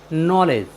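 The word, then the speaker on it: knowledge: के एन ओ डब्लू एल ई डी जीई नॉलेज नॉलेज मीस होता है ज्ञान साथियों यहां पर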